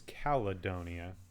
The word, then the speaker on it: Caledonia: So, as indicated by the name, I also been calling this Caledonia. I'm pretty sure it is Caledonia, with an extra syllable in there.